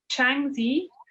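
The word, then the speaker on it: Shanxi: of dragon uh sculptures yeah so it's it's changi which is i've actually got it written down because i think my pronunciation is probably not great it's uh s-h-a-n-x-i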